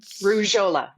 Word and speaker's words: Rujholla: Rujholla. Rujholla. Rouge like the color red in French, and hola like hello in Spanish.